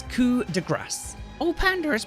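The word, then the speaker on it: Coup de Grâce: how to pronounce it cool the grass Cuda grass in French but in English or American Quarter grass do not pronounce the P do not say Coop but rather cool the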